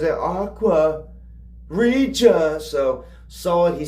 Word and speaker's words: Aqua Regia: Aqua Regia. Aqua uh Aquaria. Aquaria. Um, it's it looks like it's pronounced Reia, but how Vessel says it Aqua Rea.